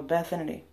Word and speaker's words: Bathinity: But it's just Bath and Infinity mixed together. So, BATHINITY.